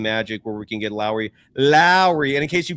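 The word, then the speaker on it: Lauri: think to the movie, think back to the movie Bad Boys with Will Smith and Martin Lawrence where he goes Mike Lowry. And that's literally how he pronounced his first name. It's Lowry Markin, although it's it's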